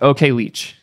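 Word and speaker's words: OKLCH: want to talk about here but okay it's pronounced okay leech apparently thank you for the corrections chat this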